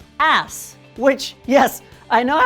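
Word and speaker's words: آس: whatever so in arabic that plant is called ass which yes i know how that sounds but i swear that's the right pronunciation so tushkul assi literally translates to may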